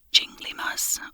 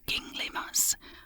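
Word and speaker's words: ginglymus: word can be pronounced jingly mus or gingl mus with the stress on the first syllable g a verb one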